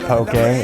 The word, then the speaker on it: poke: be having poking you may have heard of poke a it's pronounced okay